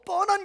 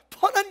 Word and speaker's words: 펀: 발음 조심하십시오. 더 뻔한 교회가 아니라 펀한 교회가 되어야 됩니다.